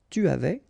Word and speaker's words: tu avais: And avoir at the imparfait will give j'avais, tu avais, il avait, elle avait, nous avions, vous aviez, ils avaient, elles avaient. Okay, so j'avais, final S not pronounced.